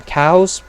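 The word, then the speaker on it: Kau: Cows, spelled K-A-U, which is actually how they're spelled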